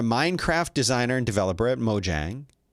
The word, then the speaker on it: Mojang: designer and developer at mojang i've heard it pronounced mo yang but i'm not gonna do that um this is a person